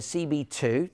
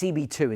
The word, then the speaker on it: CBII: And then I really recommend you go to CB2, that's what it is, CBII, can you see that there? CBII, that's CB2 is the right way to say it.